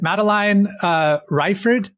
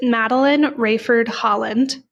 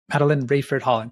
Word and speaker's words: Maline Rayford Holland: Uh is it Maline uh Rifford? It's Maline Rafford Holland. Maline Rayford Holland. Thank you. A's in the eyes and a I know it's so confusing. Make different noises.